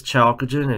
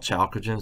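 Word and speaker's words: chalcogen: that is called the necktied family 6A is chalkogen if you notice the first element in 6A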